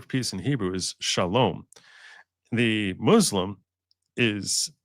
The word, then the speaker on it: shalom: the Muslim is say they say salam because the the the sh becomes an s and it's just and instead of the o sound at the end it's just an a so we say shalom they say salam but